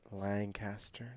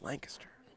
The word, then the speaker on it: Lancaster: of those boys and every time I say it Lancaster they always say no it's Lancaster yeah they gave me